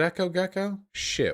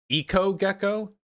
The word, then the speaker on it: Eco Gecko: something else something gecko it rhymes with gekko eco gecko not echo that makes more sense